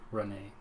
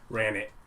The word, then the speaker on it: Ranet: your net spelled r-a-n-e-t run it or if i pronounce it in the french way renee yeah we're not doing that ran it ran it damn it